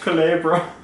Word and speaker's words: Culebra: gonna be really cool it's 14,000 Culebra it's pronounced Culebra cool brown otherwise known as big PP nothing